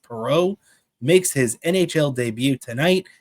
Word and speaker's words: Perreault: Gabe Perreault, that's how you pronounce it. It looks like Perrault, but it is pronounced Perreault, makes his NHL debut tonight after his junior year of college.